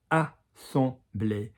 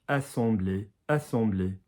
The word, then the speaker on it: assemblé: So you've got this a duck, on the chest, on the vibration, back up in the duck. So duck, chest, duck. Assembler. Yeah, assemblée. Notice the English way always goes a little bit shorter.